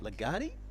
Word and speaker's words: Legati: Legati. Yes. Is that the correct pronunciation? Legati, yes.